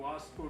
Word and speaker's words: वास्को: तो पता चला वो वास्को बोलना चाहते हैं, वास्को डिगामा, लेकिन अंग्रेजी के वी अक्षर का उच्चारण वो भा कर रहे थे, वास्को की बजाय वो भास्को बोल रहे थे, इसलिए मुझे काफ़ी भ्रम हुआ।